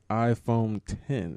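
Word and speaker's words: iPhone X: just for people listening it is pronounced iPhone 10 this is according to Apple did they skip nine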